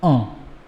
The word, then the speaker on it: un: after me guys and it's a nasal sound so you have to sound it as uh for indefinite articles feminine